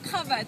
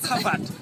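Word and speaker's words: cravate: so this the Kat how do you say in the French kavat kavat kavat is the French so it is like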